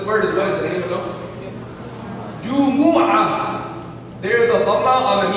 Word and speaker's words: Jumu'ah: Some people, they call it Jummah. The Indians, right? They put a shad on the mean Jummah.